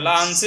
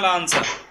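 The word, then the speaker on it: لا أنسى: লা আনসি না লা আনসা? লা আনসা, নাসিয়া ইয়ানসা, বাবে সামিয়া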